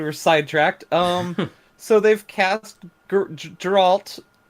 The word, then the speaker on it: Geralt: So they've cast Geralt. Soft G.